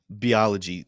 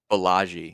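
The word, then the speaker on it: Balaji: uh I always love your your how you pronounce his name say it one more time what's his name beology shoson biology why biology bellagi is the correct pronation why not bag anyway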